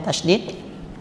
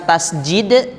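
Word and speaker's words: تشديد: nah ini praktiknya huruf tasdid tasdid bukan tasjid ya tasdid tasdid tanda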